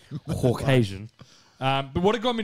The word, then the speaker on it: Caucasian: My Caucasian. Pronounce the U. Caucasian.